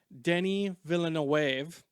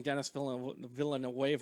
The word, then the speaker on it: Denis Villeneuve: Someone I talked about last week who apparently I've probably been pronouncing his name wrong the entire time. Denis Villeneuve is, I believe, how it's actually pronounced. I was saying Denis Villeneuve last week, but he is